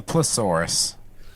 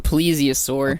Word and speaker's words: plesiosaur: It is a a thiasaurus and a plesaurus. A plesiosaur.